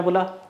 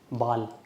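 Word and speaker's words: Ball: Laptop, computer, CD player, बाल, ये सब जर्मन में भी बोलते हैं, इंग्लिश में भी बोलते हैं, सेम स्पेलिंग होती है, बट थोड़ा सा प्रोनाउंसिएशन अलग होती है, जैसे बाल, बॉल नहीं बाल।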